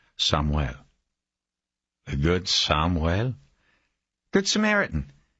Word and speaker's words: Samuel: He said it with a Hispanic pronunciation, Samuel.